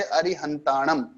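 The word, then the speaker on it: अरिहंताणं: हाँ, जैसे अरिहंताणम, न के ऊपर आया तो बाद में म ही निकलेगा।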